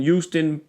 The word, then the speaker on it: Houston: say Houston houon Houston you got to say the Hugh like humans humans in Houston with u Jackman anyway